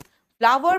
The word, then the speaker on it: flour: फ्लावर बेटा FLOUR का pronunciation फ्लोर नहीं होता, फ्लावर होता है।